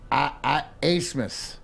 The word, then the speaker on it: Abmas: Oral Roberts has the best shooter in the country, and the kid his name is spelled Max Abmas, and it's pronounced Asmus.